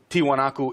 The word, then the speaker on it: Tiwanaku: Puma punu is actually part of the whole tiwanaku area and and it's only a couple hundred